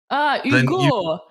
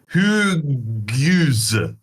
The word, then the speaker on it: Hugues: Well, the French, you don't pronounce an H at the start of the word, right? So when his name is spelled Hugo's... Hugo. Did you mean to say Hugo? No, because there's no O. This is not Hugo. It's Hugues. Hugues. Hugues. Hugues. So, like, of the 6 letters in his first name, you're pronouncing 2.